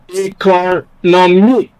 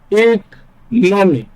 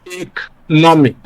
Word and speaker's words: economic: Now, there is a rule because for words that end in the following suffixes, they almost always take a stress on the second syllable from the end of the word. And one of them is IC, which is what this word ends in. So we place stress on the second syllable from the end of the word. And what we have is economic. All right?